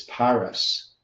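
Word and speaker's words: פרס: The root word is Perez, meaning divided, matching the fiscal half mina, but pronounced as Paras.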